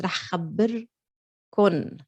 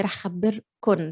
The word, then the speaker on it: راح خبركن: But in Lebanese, it's راح خبركن, always with the noon. We pronounce it with the noon, although you might find it written like this, but we say راح خبركن.